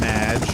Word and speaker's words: Madge: have mispronounced my name it's Madge which rhymes with badge and no as in